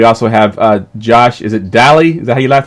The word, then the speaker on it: Dalley: the background we also have Josh is it Dahle the hey last name is pronounced Josh you nailed all right and you